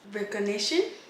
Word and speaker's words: recognition: You actually pronounce the G? I feel like maybe I naturally pronounce it, but I don't think it would be wrong to not pronounce it. So it might be one of those case-to-case basis things. I won't tell you it's wrong either way.